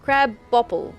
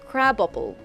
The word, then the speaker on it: crabopple: Pronounced crab bopple. Oh. Pronounced crabopple. Unlike the crab apple, when ripened to a bright red, crabopples are amazingly sweet and delicious. Okay, so there's crab space apple, and then there's crabopple, which is completely different, apparently.